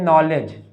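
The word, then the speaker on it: knowledge: के बनेगा नॉलेज लेकिन इसमें क्या साइलेंट है डी साइलेंट है और के साइलेंट है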